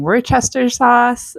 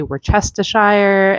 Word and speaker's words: Worcestershire: For me, I grew up saying Worcester sauce, but I know some say Worcestershire and Worcestershire.